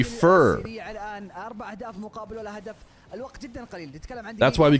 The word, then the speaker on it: Feer: You literally have a silent e. No, it would be fur.